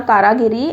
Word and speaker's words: Karagiri: सो आप लोग please confuse मत हो जाना कारागिरी एंड कारीगिरी में।